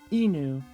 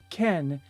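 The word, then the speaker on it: 犬: But this enu kanji will frequently be pronounced ken in a variety of different situations.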